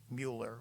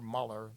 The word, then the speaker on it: Mueller: on the report of Robert Mueller or Muller depending on how you pronounce it or depending on who's saying it and you know I